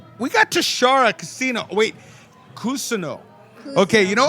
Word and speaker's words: Cousino: everyone will say Tishara Cousino from Las Vegas. So I just, like, it's like I said, tomato, but the real pronunciation is Cousino. Cousino. Yeah, Cousino. yeah.